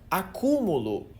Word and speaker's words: acúmulo: sentido da coisa, porque na palavra acúmulo a sílaba tônica tá bem no meio. Agora se eu falo acumulo, você entende que eu mudei o tempo verbal da palavra.